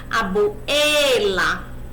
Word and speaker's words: abuela: Qual é a sílaba tônica desta palavra? Abuela. Não é o A. Então, essa regra não segue a troca de artigo.